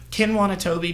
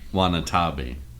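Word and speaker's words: Watanabe: And Ken Wanatobi being like the one at the end. Did I say his name right? No. Okay. Wanatabi.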